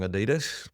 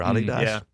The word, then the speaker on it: Adidas: I said yeah that's great go and listen to them and then I forgot that they have that song Adidas or Adidas.